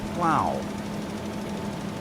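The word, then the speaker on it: Plough: I was watching a TV show just last night where they had in a farming community a pub called the Plow and it was spelled P L O U G H Plug or Flug and they pronounced it plow.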